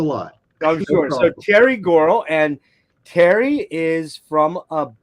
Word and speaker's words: Gorle: It's Gorle. The E is silent. It's Gorle, so it is a silent.